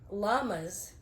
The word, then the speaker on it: llama: You don't pronounce the double L. I mean, you do, but you pronounce it like a Y.